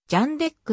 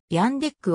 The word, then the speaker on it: Jandek: スターリンリーチャーとスミス自身はジャンデックの発音が正しいとインタビューで答えているが本性においては一般的に認知されているヤンデックを使用したと記述され